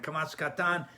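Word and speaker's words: Kamatz Katan: to it's pretty simple the Kamas pronounce a a long long ah like that and kamasan is pronounced o like a because many of them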